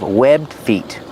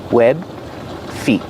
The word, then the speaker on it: webbed: They have webbed feet. Pronunciation. Webbed feet. You don't really hear the D if you link the sounds together because it's a stop D. Web feet.